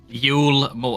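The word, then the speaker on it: Eulmore: you pronounce it then yulore yulore like Yul more like like Christmas U type yeah more L it's l that's that's what it is okay the done does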